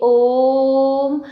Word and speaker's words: ओम: इसके पश्चात जब हम ओम का उच्चारण करेंगे तो देखिए ओम, इस प्रकार से हमने इसमें तिगुना समय लगाया और इसको ऊंचा उठा करके बोला, तो ये हमारा क्या हो गया?